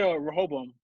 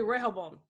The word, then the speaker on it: Rehoboam: It's a weird thing with the tongue because it sounds like they're saying an L, but they're not.